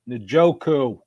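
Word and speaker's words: Njoku: David and joku and let me remind Al Michaels it's pronounced nooku boy he struggled with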